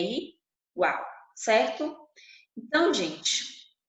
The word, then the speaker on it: gente: Quando eu tenho a palavra gente em espanhol, eu pronuncio gente. Mas por que eu pronuncio gente? Porque a regra diz que a pronúncia tem som de R do português e diante